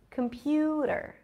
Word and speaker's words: computer: or can we say computer computer yes we can there is no o there is no e at the end it's not computer computer